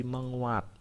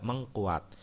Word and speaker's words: menguat: penulisannya terutama dan pengucapan jadi ada imbuhan me terutama yang bertemu dengan huruf awalnya KTSP itu dia luluh Lul itu lebur ya penulisannya seperti kata me ketemu kata kuat tulis dan sebagainya nah sehingga harus diperhatikan kalau temu kata kuat menjadi menguat ya dia luluh ya Tidak mengkuat sehingga ada kata mengkonsumsi salah harusnya mengonsumsi ya me ketemu kata